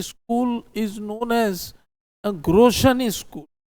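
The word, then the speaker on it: Grotian: The second school is known as a Groshan school. Groshan is spelled as Grotin.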